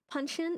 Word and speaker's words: Puncheon: Puncheon is the pronunciation.